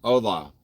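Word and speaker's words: hola: Ola. Ola. Why does it sound like like that or look like that on the screen? What was it again? Ola, Marcia. Ola. The H is silent.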